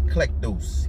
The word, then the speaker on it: eklektos: Okay, the Greek word there is eklektos. Eklektos. Strong's G, 1588. Eklektos. Eklektos. Eklektos. Electos. Okay, so how he pronounce it, eklektos.